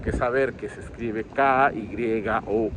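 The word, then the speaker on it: きょう: están habituados al idioma, eso se dice kyo. Quienes estudian japonés saben que se escribe con la sílaba ki, luego se escribe una sílaba yo, que tiene que ser de un tamaño más pequeño, la famosa yo chiquita, y luego una u.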